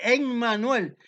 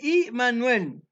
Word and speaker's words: Immanuel: No, no se dice Emmanuel, se dice Immanuel, que es una composición de tres cosas.